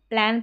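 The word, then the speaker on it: plan: Next है यहां पर स्पेलिंग प्लान। इसको पढ़ेंगे प्लान। इसको प्लान पढ़ना यानी कि प्लान बनाना।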